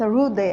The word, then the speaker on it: हृदय: होत काय आहे याच्यामध्ये या जोड अक्षराच्या उच्चारणामध्ये जे की हिंदीमध्ये होत आहे तर यामध्ये ह चा उच्चार अगोदर होतो नंतर र चा उच्चार होणार आहे आणि शेवटी स्वर या